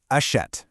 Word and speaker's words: achète: They indicate an open e sound. For this one, your mouth actually opens wider, and the sound relaxes into more of an eh sound, sort of like in the English word pet or set. Let's actually look at these in action. Take achète, which means he buys. You can really hear the jaw drop slightly on that middle syllable.